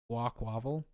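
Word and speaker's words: Quaquaval: That looks like you're trying to say aqua, so Quaquavel.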